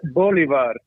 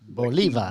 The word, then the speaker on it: Bolivar: Bolivar. So that the I has a high, like an iron. Bolivar.